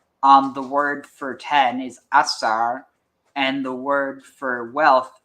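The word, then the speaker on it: עשר: Asar.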